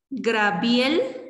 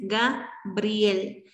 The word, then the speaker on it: Gabriel: También Grabiel en lugar de Gabriel. Sí, este es otro error común que podemos llegar a cometer. Es Gabriel. Pero hay quienes, pues, por diferentes circunstancias, pronuncian Grabiel.